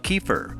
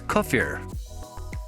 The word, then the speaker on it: kefir: The term kefir has several pronunciations depending on your country of origin. Most people in the western US call it kefir, or sometimes kefir. The original Russian pronunciation, however, is kefir.